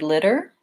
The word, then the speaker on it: litter: you mentioned the word litter same thing this to these two letter T's make the flap T and it sounds a little bit more like litter litter so I would suggest